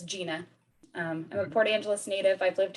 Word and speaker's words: Jena: I know it's spelled a little funny, but it is Jena.